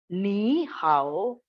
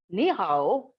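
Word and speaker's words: 你好: Ni hao, this is again a very common example.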